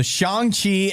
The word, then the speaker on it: Shang-Chi: So Shang-Chi and the Legend of the Ten Rings.